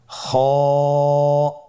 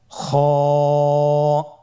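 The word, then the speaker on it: خاء: খ হরফটির মাখরাজ হলো কন্ঠনালীর শেষ ভাগ হতে উচ্চারণ করতে হয়। কন্ঠনালীর শেষ ভাগ। আপনারা আমার সাথে বলুন খ আবার বলুন খ মাশআল্লাহ।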